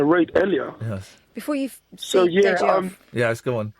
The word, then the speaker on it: Deji: So I basically said to your researcher to say it like, you know, when you say day, Monday, day, and then the letter G.